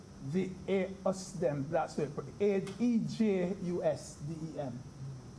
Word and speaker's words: ejusdem: When I was at law school, I learned of a rule called the EJUSDEM, that's it, E-J-U-S-D-E-M. Pronounced like if the J was an H.